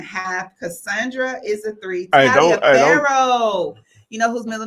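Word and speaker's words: Taliaferro: three and a half Cassandra is a three Talia phoh you know whose middle name is Talia phoh you know when I wrote down my kids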